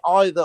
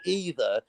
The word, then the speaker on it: either: about the word either you can say either or either it's one word with one spelling but it's got two pronunciations what about or you